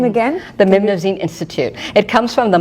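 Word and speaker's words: Mnemosyne: It's also pronounced Namazanine. We did test, and whenever we said Namazanine, people went, And if we said Mimnazine, like, So we went with that pronunciation.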